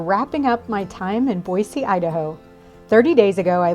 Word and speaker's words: Boise: name of the city, Boise, with a soft C. I think when I first got here, I was saying Boise, as if there was a Z in the spelling.